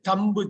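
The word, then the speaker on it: thumb: அடுத்தது ஒரு அது முக்கியமானது தம்பு தம்பு எல்லாம் சொல்லக்கூடாது கட்டைவிரல் இருக்கு இல்லையா தம் தம் தம் தம் கட்டை விரல் எழுதிக்கோங்க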